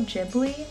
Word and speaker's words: Ghibli: It's Studio Ghibli, I think is how you say it.